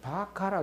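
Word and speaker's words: 馬鹿: 그래서 이걸 바가라 그 요게 시가거든요. 시가 그래서 이게 가고요. 요게 발음이 바입니다. 그래서 바가 이럽니다.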